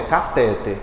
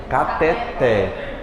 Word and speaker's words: cateter: essa próxima aí até fala não é cateter é cateter a mais forte é o pé igualmente ureter é você